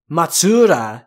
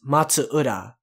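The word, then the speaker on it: Matsuura: by matsura kento kento the big thing to look out for for that is that the matsu and ura are separate so it's matsura it's not matsura it's matsura so the matsu means pine tree in ura means like beach or coast or something like that in tokyo shinobi's squad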